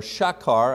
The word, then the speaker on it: Sychar: It says, "So he came to a city of Samaria called Sychar, or Shakar actually pronounced, near the parcel of ground that Jacob gave to his son Joseph.